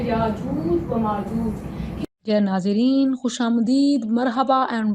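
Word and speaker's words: يأجوج ومأجوج: इसकी right pronunciation क्या है? याजूज व माजूज। बच्चे इसको कैसे कह रहे होते हैं? ये गलत है। जो सही प्रोनाउंसिएशन है वो है याजूज व माजूज।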